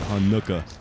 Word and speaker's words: Hanukkah: Like, what syllable are you supposed to enunciate? Is it Hanukkah or is it Hanukkah?